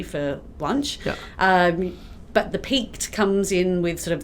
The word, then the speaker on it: Peaked: So did I pronounce that correctly? Peaked pies? Peaked pies, Peaked yes.